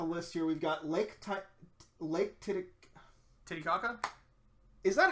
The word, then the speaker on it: Titicaca: We've got Lake Titicaca? Is that how they actually pronounce it, or is that how people make jokes about it? I believe that is how it is pronounced.